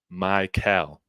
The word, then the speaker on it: Mikell: year thank you thank you MB it is pronounced cam Mel Mel I will get it right I promise for